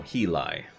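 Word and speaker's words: Hyli: which i call imperial in imperial vowels are always pronounced the same thus y as always so he lie for example my name would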